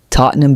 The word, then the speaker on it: Tottenham: For example, Tottenham becomes T O T N E M.